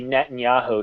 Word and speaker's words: Netanyahu: Well, in English, though, we say Netanyahu.